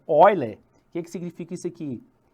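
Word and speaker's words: Euler: número aí veja que se você for ler aportuguesado né número de eu né é a pronúncia correta é oile que que significa isso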